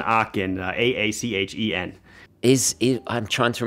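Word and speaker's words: Aachen: a 39 millimeter uh it's based on a ashen uh this would be an akin your letters are correct your pronunciation is wrong right right yeah it's an arcane a-a-c-h-e-n is i'm trying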